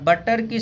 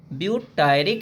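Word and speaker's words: butyric: ब्यूटायर है तो एक एसिड लग गया ब्यूटायरिक एसिड, बटरिक एसिड नहीं, ब्यूटायरिक एसिड।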